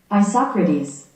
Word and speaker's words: Isocrates: Okay, yeah, we did talk about this because that is not how it's spelled. Oh, I got the sound up. Oh yeah. Ready? Yeah. Isocrates.